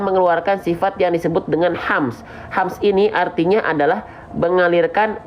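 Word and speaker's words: ح: Ada bisik-bisiknya. Nah, itu adalah ha kecil. Dia pasti tepat. Dia pasti akan berbisik nafasnya kalau cara bacanya tepat. Nah, jangan sampai dari tengah tenggorokan banyak orang melafalkannya salah, malah terlalu ke bawah.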